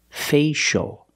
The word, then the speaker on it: facial: or this word facial we see the C before the I a so we know the C is pronounced with the sh sound like shoes and show facial the first vowel is the long a a like say and pay Faye facial facial facial can be